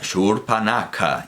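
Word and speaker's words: Śūrpaṇakhā: Nos está diciendo que se pronuncia Shurpanaka.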